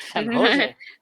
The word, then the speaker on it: San Jose: We call it San Jose.